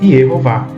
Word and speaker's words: Yehová: aqui o nome divino com o tetragrama e as vogais E, O e A, para se pronunciar em hebraico Yehová.